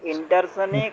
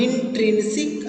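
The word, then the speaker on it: intrinsic: স্যার ইন্টারসনিক আর না, এক্সটারসনিক। ইনট্রিনসিক আর এক্সট্রিনসিক। প্রোনাউন্সিংকে এখন থেকে ঠিক করো। ইন, দেখো INTRIN, ইনট্রিনসিক অ্যান্ড এক্সট্রিনসিক।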